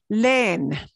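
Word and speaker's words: leen: So this is pronounced len. Len. Len. Len. Because we're saying len.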